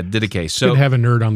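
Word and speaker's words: Didache: really nerdy but it's pronounced diday and the only reason I had to figure that out is cuz we said it in our course and we had to call a guy to be like how do you say this word he's like d so yeah diday so have a nerd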